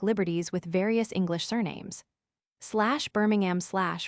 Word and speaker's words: Birmingham: /Birmingham/ for example, is pronounced /Brimingham/ in Ireland.